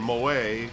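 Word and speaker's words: Moët: Police said the female suspect and 2 other males took bottles of Patron and Moet, or Mo, how do you say that?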